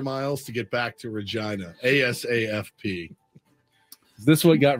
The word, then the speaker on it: Regina: is and I've confirmed that this is the pronunciation Regina re yeah GI and seen on the map